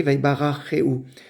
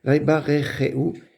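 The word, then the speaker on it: וַיְבָרְכֵהוּ: Ici, il s'agit en fait d'un sheva que l'on doit entendre. Vaibarecheu, c'est mieux comme ça de le prononcer.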